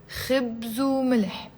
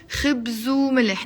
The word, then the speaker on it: خبز وملح: في بيناتنا خبز وملح. Notice how the wow, the w, which means and, I'm pronouncing it as a oo when I'm doing the liaison. خبز وملح, not خبز وملح.